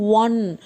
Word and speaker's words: one: இந்த ONE நம்ம எப்படி ப்ரொனவுன்ஸ் பண்ணுவோம்னா 1 W சவுண்டில் ப்ரொனவுன்ஸ் பண்ணுவோம்.